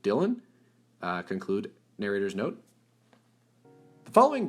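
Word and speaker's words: Dillon: Narrator's note, here it's spelled Dylan, D-I-L-L-O-N, so I'm going to pronounce it Dylan.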